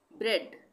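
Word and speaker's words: bread: ब्रेड, ब्रेड में भी ए का उच्चारण नहीं हो रहा है, हम क्या बोल रहे हैं? ब्रेड, तो ई का उच्चारण हो रहा है यहाँ पे, ब्रेड।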